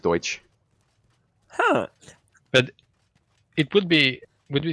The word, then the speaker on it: Deutsch: touch Deutsch Deutsch towards that is pronounced it's pronounced Deutsch but it would be